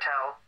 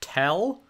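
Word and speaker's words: Thel: I'm playing along with your protocol here, Tell. If the fours bring me an active... I'm sorry, it's pronounced Tell? You don't pronounce the H? It's not a th sound, it's a T sound?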